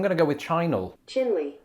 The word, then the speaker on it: Chinle: to go with china chinle it is sort of like the country chile almost not quite oh here we go another shortish word ending in e and if chinle is anything to go